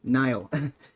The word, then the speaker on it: Nile: It's not Nail. Nile. That wasn't mail slot.